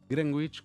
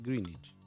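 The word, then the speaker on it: Greenwich: Si hay alguien que algún profe de inglés cerca que me corrija, los nombres propios no tienen reglas y Grangwich, como decimos acá, se dice Greenich.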